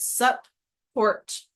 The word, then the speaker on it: support: it into an adjective so split sub Hort like that and say it like that so you are pronouncing two P's in either part of the word remember that there are